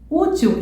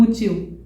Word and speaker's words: útil: a gente entona mais então eu falo agiu e não agiu difícil e não difícil útil e não útil Deu para entender então ágil ageis difícil difíceis útil úteis réptil répteis Ok